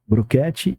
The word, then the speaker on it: Brochete: Se fala Broquete e se escreve R Brochete.